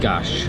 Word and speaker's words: gás: So in Portuguese, or at least in Portuguese, the S is pronounced as sh. I made that mistake earlier by saying gas instead of gash when I was ordering the drink.